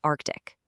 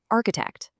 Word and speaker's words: arctic: The target word is arctic, but because of a severe vowel shift and palatalization, the speaker actually says a completely different word, architect.